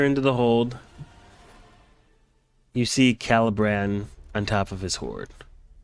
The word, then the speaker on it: Calabran: him how do you say his name again calibran calibran yep I love bran okay it's in